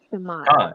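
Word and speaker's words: שמע: Shamak? Shema. That's how it would be said.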